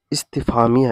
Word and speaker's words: استفہامیہ: جاتا ہے۔ تو دیکھیں، اس کا تلفظ ہے استفہامیہ، اس کو یاد رکھیں